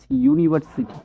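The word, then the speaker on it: university: লিখবো যেমন আমরা ড্যাশ ইউনিভার্সিটি কি হবে এ ইউনিভার্সিটি এন হবে না যেহেতু ইউর উচ্চারণ ইউ হয়ে গেছে এ লিখবো ওকে নেক্সটে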